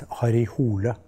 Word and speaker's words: Harry Hole: to know better the Norwegian pronunciation of Harry Hole is harihul Hare is in